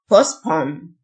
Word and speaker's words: postpone: يتردد hesitate hesitate يؤجل postpone ال t silent postpone يشمل أو يتضمن include